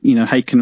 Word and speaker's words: Haken: And we wanted to home in on the fact, Haken rhymes with bacon.